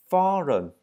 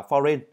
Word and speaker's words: foreign: Foreign. Từ này các bạn hẹn là foreign, nhưng thực ra đọc là foreign.